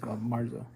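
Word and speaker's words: marzo: of 2022 it's not Oro that's Thea it's Marza yes Marza um so we meet up Wednesday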